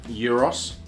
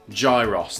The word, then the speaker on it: gyros: are not hot enough it's called euros and Euros Euros Euros Euros are you even Greek gyros that's what people call it because it's spelled g-y-r-o-s chicken kebab roasted Veg